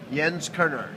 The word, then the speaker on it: Jens Koerner: Jens Koerner.